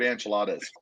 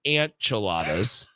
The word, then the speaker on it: enchiladas: in the history of enchiladas first of all please pronounce it with enchiladas they are not an cheladas maybe these maybe these